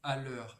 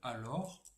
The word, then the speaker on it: alors: Donc quand vous dites à l'heure à la place de alors, eh bien, ce n'est pas bon.